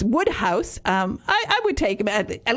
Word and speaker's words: Wodehouse: I said Woodhouse because when I first went to England, because I lived in northern Michigan, nobody had certainly ever heard of P.J.